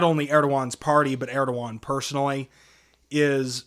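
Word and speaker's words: Erdoğan: I It's like- actually, in Turkish, saying it's pronounced Recep Tayyip Erdogan.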